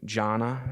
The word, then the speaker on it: Jannah: You know, there's this prophet, and you know, and like their heaven, I think it's Jannah is how it's pronounced, I hope.